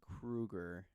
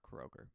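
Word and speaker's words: Kroeger: him talking about it his name is Krueger not Kroger but anyways moving on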